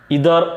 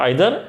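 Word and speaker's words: either: এরপর দেখেন বন্ধুরা, যদি each of, ওয়ান অফ, ইদার অফ, নিদার অফ। এখন দেখেন এখানে কিন্তু অনেকেই উচ্চারণটা, এটা দুটো উচ্চারণই রাইট আছে, একটি হলো আইদার, একটি হলো নিদার।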